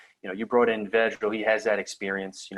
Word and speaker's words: Vedral: Vedral.